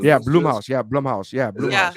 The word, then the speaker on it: Blumhouse: The Blue Blumhouse. Yeah, Mouse Studios? Blumhouse. Yeah, Blumhouse. Yeah, Is it Yeah, Blumhouse. is it Blue House or Blumhouse?